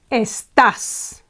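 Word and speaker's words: estás: S and Tas okay it ends with an s and we would expect the penultimate syllable to be accentuated however the Spanish say estas estas in this case Okay Okay estas and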